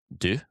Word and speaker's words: deux: Deux.